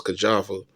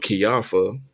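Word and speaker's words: Kijafa: His wife Kiafa, I was pronouncing it wrong for years. I thought it was Kajafa, but Kiafa.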